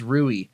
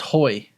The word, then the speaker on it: Rui: thought his name was Rui. I found out that's how it's spelled, but since he's Portuguese, it's pronounced Hoy.